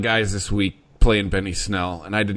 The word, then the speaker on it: Snell: of the carries but Snell rhymes with smell for a reason what